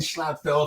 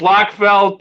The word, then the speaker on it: Schlotfeldt: doing great girl yeah she said my name right so that's how you say it well yeah but most be a well yeah a lot of people know it's it's locked felt or nordfeldt or even my wife